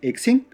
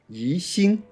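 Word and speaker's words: 宜兴: To be clear, the city that produces this clay is not pronounced Yixing, but Yixing. You should pronounce these two characters separately, and X or X does not exist in the Chinese language.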